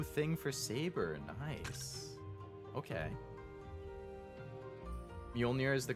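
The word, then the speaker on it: Mjölnir: What, is that when people say Mjolnir instead of Mjolnir or whatever? Mjolnir? The correct pronunciation of that is like with a Y instead of a J, right? Like Mjolnir. Mjolnir? Or is that the incorrect one?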